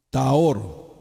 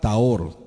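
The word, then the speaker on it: טהור: Taor. La palabra Taor, que se escribe T mayúscula A H O R. Taor, que significa puro, mis amados.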